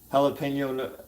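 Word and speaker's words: jalapeño: Jalapeno, actually, it's jalapeno as the correct pronunciation.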